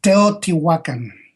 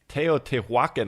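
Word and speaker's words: Teotihuacán: It's Teotihuacan. Teotihuacan.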